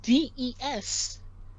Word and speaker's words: des: But we already mentioned that des, right, is pronounced D.